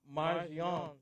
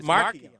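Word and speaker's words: Marchionne: That's not how you pronounce it. No, I know how you want to pronounce it, and I'm not going to let you. It's Marchion.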